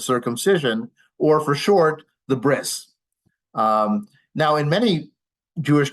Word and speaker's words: bris: next one down is bris um bris is again a Yiddish pronunciation remember like talit became Talis bris is the Yiddish pronunciation of breit breit means Covenant and